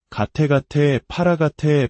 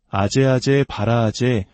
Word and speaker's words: 아제아제 바라아제: 가테가테 파라가테 파라삼가테 보디 스바하. 한국에서는 이를 소리나는 대로 아제아제 바라아제 바라승아제 모지 사바하라고 읽습니다.